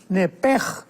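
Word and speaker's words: נפש: porque es la palabra nepesh con sh al final. Neph. En el hebreo se pronuncia eh la sh con j. Entonces, la pronunciación hebrea es nepej.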